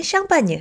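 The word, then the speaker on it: Champagne: 스파클링 와인인 샴페인과 동일합니다 영어로는 샴페인이라고 발음하지만 프랑스어로는 샴파뉴 아고 부르죠 헷갈릴 수도 있으니 앞으로 지역명은 샹빠뉴 와인 명은 샴페인으로 구분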